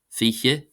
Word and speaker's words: fiche: Then for the letter F, we have fiche, fiche, and this is another one of those where the letter I here is in some dialects anyway pronounced long, even though it's spelt short.